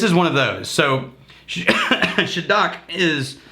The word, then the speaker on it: Shieldaig: Well, what I mean is that in your area, if you can get, and I think it's pronounced Shieldaig, if you're getting the Gaelic right.